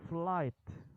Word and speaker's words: flight: flight attendent ada tuh jadi g-nya nggak dibaca hanya enggak dibaca dia langsung flight huruf P ujung naik